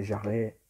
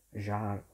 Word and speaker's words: Jarre: L'ho sentito pronunciare Jarre, Jarre. Scegliete voi.